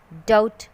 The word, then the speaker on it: doubt: हैं just like death, doubt and subtle. Because in these words B is sitting next to the letters M and T.